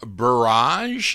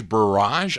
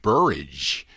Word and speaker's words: Barrage: B barrage is how you pronounce that. Like garage. Barrage. I I thought it looks like rage. Buridge. Barrage.